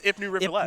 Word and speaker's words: Ipnu Rivulet: I'm just going to say I pronounced that right. You did get that right, actually. It is Ipnu Rivulette.